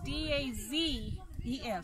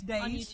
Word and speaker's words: Dazes: And then Crazy Days is D-A-Z. E-S. E-S. And it is Days, not Dazes.